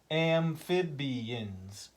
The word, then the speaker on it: amphibians: Amphibians. 4 syllables.